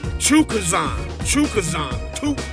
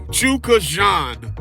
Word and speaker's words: Chukhadzian: It's pronounced Chukazan. I'm trying, goddammit. Chukazan. There it is. Okay. And we're going to revert back to Karen Chukhadzian. But I wanted to say I wanted to put some respect on my man's name one goddamn time and say it correctly.